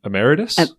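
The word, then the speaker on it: emeritus: you're a professor how do you say that ameritus yes Professor amera which means basically I'm retired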